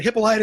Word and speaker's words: Hippolyta: But Hippolyta is what they settled on, which is kind of good because that's what I'm used to.